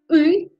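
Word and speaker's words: ы: fait correct parce que ce n'est pas I, c'est U. Il faut prononcer en retirant la langue.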